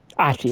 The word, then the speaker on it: Ahti: Ahti, that's how you say it.